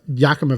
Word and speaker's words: Yakima: sauce yeah uh uh Yakima Valley Yakima Yakima Valley we're gonna go with your pronunciation I think so that's